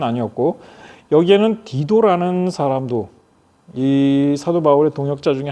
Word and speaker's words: 디도: 로마의 장군, 유명한 장군 티투스 장군이 있죠. 그 사람 티투스입니다. 디도예요. 그 우리 성경식 발음대로 한다면 디도는 헬라인이었습니다.